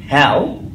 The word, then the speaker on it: how: একটা বলি, কি বলুন আমার সাথে, এটা কিন্তু হাউ না, এটা হয় জফলা আকারের মতো, এবং এক্ষেত্রেই শুধু হয়ের মতো উচ্চারণটা হবে, যেমন অন্য কোনোটাতেই কিন্তু হয়ের মতো হচ্ছে না, যে ওয়াট ওয়েন ওয়ের ওয়াই এবং হ্যাও, এটা হয়ের মতো হচ্ছে, তবে হয় একার হা